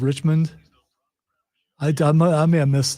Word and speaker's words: Richmond: never mind never mind did you say rich man instead of Richmond I I may have